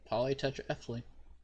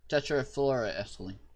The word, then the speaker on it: tetrafluoroethylene: Yep, polytetraethylene. Tetrafluoroethylene. Yeah, I knew there was another syllable in there somewhere.